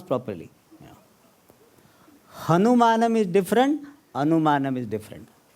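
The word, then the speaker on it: हनुमान: Hanuman, Hanu means jaw. Man means endowed with. Hanuman means the Devata who is endowed with a special jaw. Therefore it's called Hanuman.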